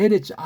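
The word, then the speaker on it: אֶרֶץ: 에레츠. 요게 바로 이렇게 정해놓은 게 이게 에레츠예요. 점 세 개는 에자로 발음해요.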